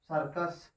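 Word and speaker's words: circus: अब यहां पर देखिए, इस सी के बाद आई है नहीं, या सी के तुरंत बाद यू है, तो इसको हम क्या पढ़ेंगे, क पढ़ेंगे।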